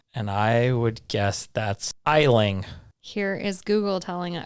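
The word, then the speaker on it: Aisling: one is a-i-s-l-i-n-g and I would guess that's eiling here is Google telling it or this is a website that that is going to pronounce it for us Ashley isn't that tricky yeah I would have said Island yeah all right next one is c-a-o-i-m-h-e kyom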